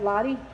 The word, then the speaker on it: Lottie: They're an Alva dog called Lottie, is that how you pronounce it? Yep, Lottie.